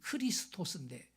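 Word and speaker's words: Χριστός: 원래 온 발음은 크리스토스인데 이 메시아에 해당하는 헬라어가 그리스도인 것입니다. 예. 그래서 이 크리스토스 첫 철자가 X자로 돼 있어, X자. 근데 그게 X가 아니고 헬라어 발음은 키입니다, 키.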